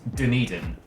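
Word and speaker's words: Dunedin: dead streamer but like in New Zealand it is called denan um almost pronounced like a single word and the denan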